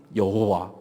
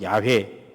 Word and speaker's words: 야훼: 모음을 다시 붙이죠 붙였더니 여호와 진짜 발음은 야훼 야훼 야외 어떤 교단에서는 지금도